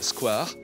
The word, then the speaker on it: square: Prononcé à la française Squar, il s'applique un jardin public étendu et figure dans le dictionnaire de l'Académie française depuis 1878.